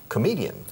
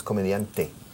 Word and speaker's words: comedian: So ask him if he is a comedian. Are you a comedian? Yes, I am. Escucha. Comedian. No hay T al final. No es comediante. Es comedian. A comedian.